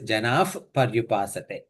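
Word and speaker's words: जनाः पर्युपासते: Whenever it is followed by pa, what happens is that because of ha and pa goes together, that full sound comes. So it is a janaf, it is janaf paryupasate. Okay, so that's how it has to be pronounced.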